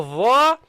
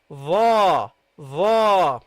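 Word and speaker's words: ظاء: And when you have the dha, your tongue comes slightly out. Okay? It's the same place, but it comes slightly out. Your tongue. Dha, dha. Okay? So this is how you pronounce the letter dha.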